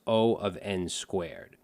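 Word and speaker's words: O(n²): quadratic time in Big O so this is pronounced o of N2 and over here you can see for quadratic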